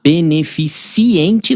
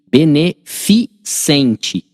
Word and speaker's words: beneficente: Mas beneficiente não. Esse é benf beneficente, OK? Então é bene fiente.